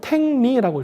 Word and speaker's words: 탱리: 저거를 탱리라고 읽습니다. 탱리. 탱그리의 고대 발음이 탱리예요.